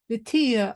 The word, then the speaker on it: Vitija: Vitija. Oh, I knew it. Darn it, I knew it. Fine. The Spanish fine.